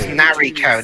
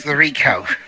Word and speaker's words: Nariko: Wait, I thought it was Nariko, now it's Nariko. I think it's pronounced both ways.